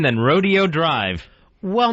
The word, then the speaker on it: Rodeo: Hey, what about uh Rodeo Drive? Uh yeah, it was Rodeo Drive and then they decided we are rich. We're not a bunch of cowpoke people anymore. And they switched it to Rodeo.